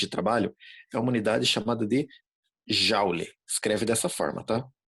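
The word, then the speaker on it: joule: da humanidade chamada de jauli escreve dessa forma tá se escreve julie mas a gente fala já igual house na casa em inglês jauli o símbolo vai ser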